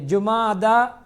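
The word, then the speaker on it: جمادى: அது ஜுமாதா, அதாவது ஜுமாதல் ஆஹிரா, ஜமாத்துல் ஊலா ஜமாத்துல் அவ்வல் என்று சொல்வார்கள். ஜமாதுல் அவ்வல் அல்ல, ஜுமாதா அல் ஊலா, ஜுமாதா அஸ்ஸானியா அல்லது ஜுமாதா அல் ஆஹிரா, இதுதான் என்னுடைய பேர். ஜுமாதா என்று உச்சரிக்க வேண்டும்.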